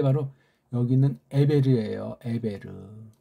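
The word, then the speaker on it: עבר: 요 사이에 있는 게 바로 여기 있는 에베르예요. 에베르. 아인 베이트 레이슈. 에베르.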